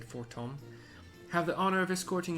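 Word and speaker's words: Fortemps: Might I, Emilian de Fortom, see, it's spelled four temps, but the voice actors said Fortom, have the honor of escorting you to the ballroom?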